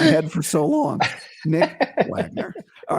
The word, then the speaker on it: Wagoner: There's Nick Wagoner. And I asked him today, I said, what is the O silent or not? He said, yes, the O is silent. Nick Wagoner, right?